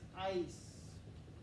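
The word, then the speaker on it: áis: Our ending is ice. It's one of those diphthongs, two vowels in a row. Ice. Ice. Pronounce it like the word ICE in English.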